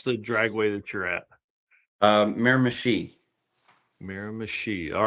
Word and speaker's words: Miramichi: So how do you pronounce the dragway that you're at? Miramichi.